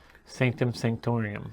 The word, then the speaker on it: Sanctum Sanctorum: You've got Nowhere Wakanda the Sanctum uh sanctum san I don't remember how that's pronounced and navalier sanctum sanctorum sanctorum thank you I could not